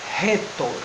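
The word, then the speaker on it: ῥήτωρ: Esse espírito forte vai indicar uma aspiração mais forte, então o ro aqui no caso não vai ser o ro de cara, mas vai ser o ro de rato.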